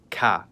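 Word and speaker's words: к: In English, it's known as K and in cerillic, it's called CA.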